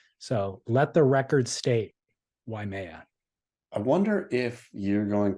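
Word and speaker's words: Waimea: down the wrong path I have been mispronouncing yeha my entire life and here on the podcast probably thousands of times why it's not why it's not why Maya it's why Maya why Maya yeah so I was adding an extra a I yeah I was adding an i and an extra syllable and saying why Maya it's just why why Maya yeah why Maya say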